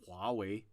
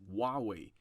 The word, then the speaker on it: Huawei: it but in chinese anytime you see a h you should pronounce that so for example there are there's a uh there is a brand in chinese which is huawei i i i hear